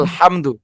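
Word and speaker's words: الحمد: আলহামদু, এখানে তো কেউ আমরা গুণনা করে পড়ি না, পড়ি না উস্তাদ, এটা স্পষ্ট গুণা হবে না। আলহামদু। আলহামদু। এখন আমরা এখানে কেন গুণনা করি না বুঝতে পারছি। জি উস্তাদ, জি, মিম এগুলি সাকিনের পরে আমাদের ইজহারের হরফ দাল আসছে।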